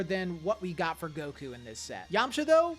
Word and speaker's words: Goku: Goku day is celebrated on May 9th each year primarily in Japan because the numbers five and nine are pronounced go and coup respectively in Japanese which together obviously form Goku.